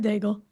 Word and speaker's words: Daigle: And so, yeah, it's closer to egg than bagel, but I like both breakfast foods, so I don't care.